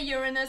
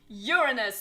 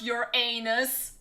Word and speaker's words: Uranus: And yes, I say Uranus. This is the right pronunciation. Uranus, not your anus.